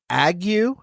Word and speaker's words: ague: I would also like to just point out that I believe it's pronounced ague, A-G-U-E, is a term for fever and chills, usually associated with malaria.